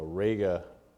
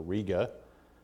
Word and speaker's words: Rega: This is a Rega Carbon, or Riga, depending on how you pronounce that.